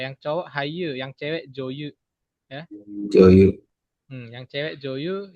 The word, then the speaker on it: 女優: Berarti bacanya itu Yu ya. Kan Yu-nya saya. Berarti Joyu. so ですね。女優。はい。Ya, aktris. ですね。女優. Aktris. Artinya artis wanita gitu ya, Joyu.